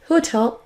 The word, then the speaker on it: hotel: Alors que comprend quand on prononce hotel history dev sentir de l'air sur votre pomme. Testez avec moi. Hôtel histoire. Maintenant, on va tester en anglais. Hotel history. Vous devez sentir de l'air sur votre pomme.